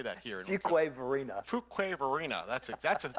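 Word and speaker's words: Fuquay-Varina: Fuquay Varina.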